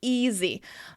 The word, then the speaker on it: easy: of s for example easy it has to do with whether the sound before it is voiced II is a vowel